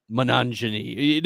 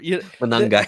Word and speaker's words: Monangai: after Jarquez Hunter, going after like RB3s, Kyle Monangini, like the Chicago, whatever. Monangai, yeah.